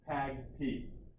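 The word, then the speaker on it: PAgP: Port Aggregation Protocol, also called and pronounced PAG-P.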